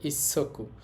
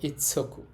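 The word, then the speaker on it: 一足: উচ্চারণ হবে এখানে সকু তো ইচি সকু হবে না একত্রে বললে হবে ইসকু উচ্চারণের নিয়মের কারণে উচ্চারণ হবে ইচ্ছকু এটা হচ্ছে এক আর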